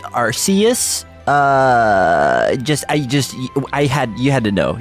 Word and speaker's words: Arceus: um excuse me it's actually uh it's actually pronounced arceus uh just i just i had you had